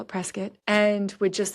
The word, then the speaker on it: Prescott: 20 minutes to Prescot Arizona and it is pronounced Prescot not Prescott anybody there will correct you if you say